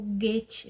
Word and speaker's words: Goethe: Ele também fala sobre Goethe, o Goethe, né? Assim que se pronuncia, e Santo Agostinho.